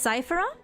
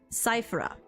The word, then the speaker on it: Cipher: Um Si is it pronounced Cipher? So you've heard of me but few call me by that name these days. Call me Cipher.